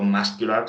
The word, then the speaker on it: muscular: muscle no se pronuncia la C, sin embargo, muscular sí se pronuncia la C.